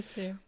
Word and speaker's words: Fitr: So yeah, essentially Eid Al Fitr, is it Fitr or Fight? You're saying it right. Eid Al Okay. Fitr.